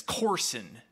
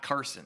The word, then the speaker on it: Corson: mins for Wisconsin and it's Corson not Carson that's weird um but